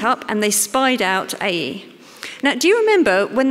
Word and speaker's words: Ai: in to to now i always want to call it ai but it's a e apparently so forgive me if i say it wrong joshua sent some men